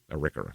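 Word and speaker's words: Arikara: Hada the Mandan uh and the arika arika arika yeah that's how you say it uh it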